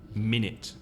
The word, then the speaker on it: minute: the vowel sound is the same in both syllables so yeah so it's me nit minute minute to be the first balance but I'll